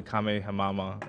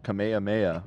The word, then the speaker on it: Kamehameha: And some kid calls it the Kamehamama or something like Kame, that. I don't know how to say it. What the fuck is it? Kame way mama? Kamehameha.